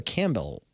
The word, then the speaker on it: Campbell: It's actually Campbell. Campbell, right? Like the soup? Like the soup is what I tell people. I don't really, P is either silent. or for me. My grandfather would say the P is silent.